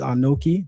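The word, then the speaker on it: אָנֹכִי: So the first word that you miss is anoki.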